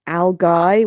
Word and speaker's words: algae: Um the word algae uh which is about the plant in the sea. Um algae I saw also was pronounced as algai which is a totally different um pronunciation.